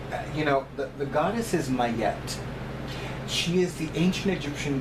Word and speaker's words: Ma'at: a woman who told me that the correct pronunciation is Mayet.